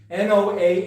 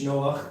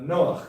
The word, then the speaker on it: Noach: Sometimes there's a spelling n o a c h, Noach, cuz that's probably the correct way to pronounce the the het, that is in Hebrew his name, noon uh I guess a column and het, right?